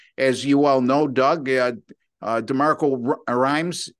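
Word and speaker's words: DeMeco Ryans: And as you all know, Doug, DeMarco Rhymes, is that, I believe I'm pronouncing his name correctly.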